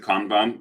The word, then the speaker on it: Kanban: And then if you look at the basic principles of Kanban, So you can also pronounce it Kanban. It's both pronunciations are fine, by the way. People use both.